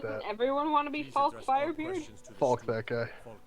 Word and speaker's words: Falk: Doesn't everyone want to be Falk Firebeard? Falk that guy. Falk Firebeard. You can't say it with that accent, my guy. What did he You say? gotta know that. He doesn't pronounce the L, so he just sort